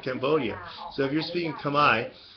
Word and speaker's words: Khmer: So if you're speaking Khmer, which is how it's actually pronounced. I know a lot of people make mistakes with that, like McCormick. It's Khmer. I'm not going to go into reasons why, but it's Khmer.